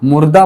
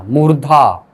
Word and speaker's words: मूर्धा: मूर्धा, मुर्दा मत पढ़ना, मूर्धा।